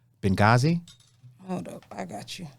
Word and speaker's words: Benghazi: uh been been uh been gaza no i'm saying it wrong benghazi hold up i got